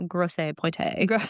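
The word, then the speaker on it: Grosse Pointe: But it's spelled with e at the end, so it's like fancy, you know, gross poe kind of thing.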